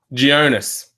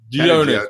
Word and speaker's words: Gionis: Now, how do you pronounce that chopper's name again? Jonas. Jonas. There you go. Panagiotis. Gionis. Yeah. Gionis.